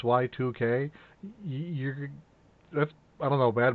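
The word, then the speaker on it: YIIK: Then I started playing Y2K, a postmodern RPG, and it's spelled Y-I-I-K, like a Roman numeral 2. And you know, if the game actually, the first thing the game says is this is pronounced Y2K, that's, I don't know, bad marketing.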